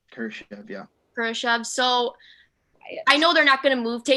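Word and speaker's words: Kurashev: kurosha for whatever what's his how do you pronounce his name greg you were right kershav yeah so i know they're not going to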